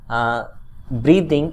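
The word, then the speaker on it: writhing: Site of her children रीदिंग इन पेन, यहाँ पर W silent है।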